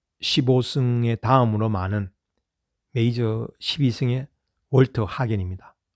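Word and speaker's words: Walter Hagen: 그 메이저 승수에서 잭 니클라우스 18승, 그리고 타이거 우즈 15승의 다음으로 많은 메이저 12승의 월터 하겐입니다. 또는 월터 헤이건, 미국식 발음하면 이제 우승했고요.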